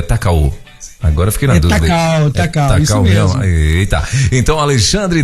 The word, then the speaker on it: Takao: É Takao mesmo ou é Takao? Agora fiquei na dúvida. Takao, isso mesmo.